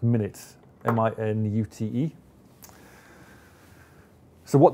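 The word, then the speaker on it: MinIT: introduce a new product this is minute pronounced minute mi nu te so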